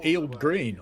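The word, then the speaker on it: Heald Green: It is Eel Green. I was wondering about the pronunciation.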